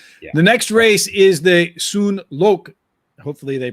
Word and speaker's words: Tsuen: next race is the soon lok hopefully they pronounced everything i got the first part right because i remember you don't pronounce t but and i always wondered